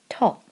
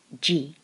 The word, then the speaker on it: 時: The character is read to, which is the Japanese reading, not the Chinese reading. If we were to use the Chinese reading it would be ji, but it's the Japanese reading to.